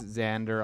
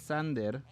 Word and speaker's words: Xander: I mean, it's Xander. Obviously, if you pronounce it in Spanish, it's Sander.